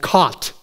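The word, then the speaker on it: khat: all chewed on a local weed called cot k h a t cot which rhymes with pot because it's like pot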